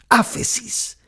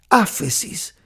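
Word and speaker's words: ἄφεσις: es una palabra griega que es que se pronuncia así afe sis afe sis es la palabra griega para remisión y significar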